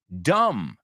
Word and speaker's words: dumb: Dumb. Tonto, que tiene una B muda también. D-U-M-B.